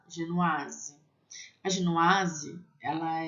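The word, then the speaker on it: génoise: Lembra do aí, tem som de A? Genoise.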